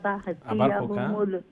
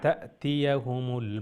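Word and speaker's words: تَأْتِيَهُم: ওয়াল মুশরিকিনা মুনফাকিনা হাত্তা তাহতিয়াহুমুল। জি আবার কোনটা? ওয়াল মুশরিকিনা, ওয়াল মুশরিকিনা মুনফাকিনা হাত্তা তাহতিয়াহুমুল বায়িনা। হাত্তা তা'তিয়াহুমুল বায়িনা। হাত্তা তাহতিয়াহুমুল বায়িনা। তাহতিয়া হার উচ্চারণ হই জারিনো। তা'তিয়া ইনো হামজা। তাহতিয়া কইছেন হুজুর?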